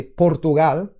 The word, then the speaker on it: Portugal: So for example, Portugal, let me say Portugal, as a Spaniard would say, or an Italian, Portugal, say Portugal, they literally eat half of the vowels in every word, and that made it difficult.